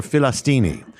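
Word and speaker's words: فلسطيني: the way you say the way you pronounce it in Arabic uh they don't call themselves Palestinians they call them this pronounced Philistine or filistini literally it's the word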